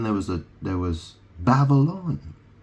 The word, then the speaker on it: Babylon: was a there was Babylon Babble on I mean obviously it's spelled a bit differently is spelled b a b y l o n but you pronounce it very similar to Babel or Babel you know